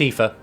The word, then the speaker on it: Aoife: So yeah, it's Aoife. It's fine. Yes, it doesn't look like how it sounds, but it's Aoife.